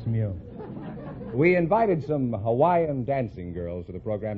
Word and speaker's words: Hawaii: a thousand I'm from Hawaii Hawaii is that the correct pronunciation I thought it was Hawai no that's not right uh Hawaii is correct oh you couldn't say